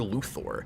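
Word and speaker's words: Luthor: movie because he'll complain anytime anybody pronounces Luther luor he's like I hate that just say Luther I'm like that goes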